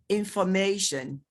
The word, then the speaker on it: information: Take, for example, in stress placement, you taught that whenever words end in TION, the syllable, the stress, the syllable that comes before T-I-O-N takes the primary stress. Information, education.